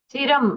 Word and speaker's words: चिरं: चिरम अनुस्वार के आगे तकार है तो नकार का अनुस्वार का उच्चार होना चाहिए, मतलब अनुस्वार जो है वो नकार जैसे उच्चारण करना है। चिरं तिष्ठति, ऐसा यहाँ पर उच्चारण करना हमें।